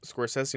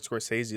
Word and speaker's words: Scorsese: Scorsese said it was Scorsese, not Scorsese, like 2 years ago when he was 70.